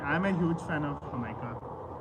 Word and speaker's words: jamaica: So J is spelled with H. So Jamaica is Jamaica.